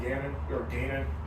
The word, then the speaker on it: Gannon: So I got Arizona taking the Jonathan Gannon. How do you say it? Jonathan Gannon. That's Gannon?